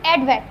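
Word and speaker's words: EDVAC: Then इसके बाद next है हमारा एडवैक, इसको क्या प्रोनाउंस करेंगे हम, एडवैक, ठीक है, electronic discrete variable automatic computer, ठीक है, यानी ये क्या होगा हमारा 1949, सिंपल से, ठीक है।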